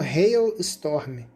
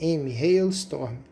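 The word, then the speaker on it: Halestorm: Chama Hil Storm. Se escreve H a L e S t o R. Hail Storm.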